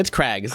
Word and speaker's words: Craggs: It's Craggs. There's no I. It's not. Cragg did not make these Craggs. Okay. They're not Craggs. Craggs? They're not Craig's Craggs.